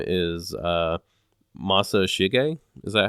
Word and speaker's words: Masashige: His name is Masashige. Is that how you say that? His name, the Inoue's name? Yeah, Inoue Masashige. I think it's Masahige, if I'm not mistaken. Oh, okay, so the S is silent.